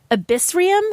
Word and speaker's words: Abyssrium: gonna say it wrong abyssrium it's like abyss and then r-i-u-m and it's this game